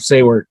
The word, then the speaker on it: Saewert: This week I have got Saewert. I'm sorry if I butchered your name there, but is that pretty close to right? Yeah, close enough. Saewert.